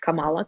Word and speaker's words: Kamala: muslim superhero kamala khan actually it's pronounced differently from kamala harris and i keep getting screwed she's her name is actually pronounced kamala khan miss marvel um